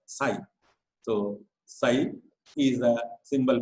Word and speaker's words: psi: the Greek letter psi, it is pronounced as psi.